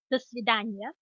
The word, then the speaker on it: до свидания: So the formal goodbye is до свидания, and it's до свидания.